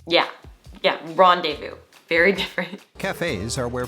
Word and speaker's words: rendezvous: word is really fun it's actually another word that is derived from french origin so us americans kind of just adopted this word for ourselves do you